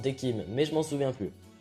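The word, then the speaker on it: Decim: D'ailleurs, il me semble que ça se prononce Dekim, mais je m'en souviens plus.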